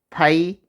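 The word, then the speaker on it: π: 머리끝 짭 키에 해당하는 그리스 문자로 파이 라고 읽어요 여러분 파이는 처음 들어보는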